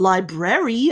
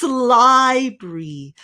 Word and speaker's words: library: It's not library at all, is it? It's library. Just 2 syllables there.